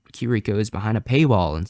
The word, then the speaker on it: Kiriko: I always say Kikiro instead of Kiriko.